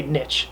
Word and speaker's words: niche: old I know that it's pronounced both ways both are okay but I changed it